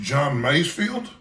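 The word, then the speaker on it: John Masefield: of delights and I believe the name is pronounced John maysfield this was recommended in a book I have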